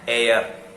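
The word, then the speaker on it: heir: An air. H-E-I-R. It should pronounce it as an air.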